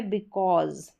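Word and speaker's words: because: फिर ये है बिकॉज, क्या है, बिकॉज, एस को ज करके पढ़ा जा रहा है, बिकॉज।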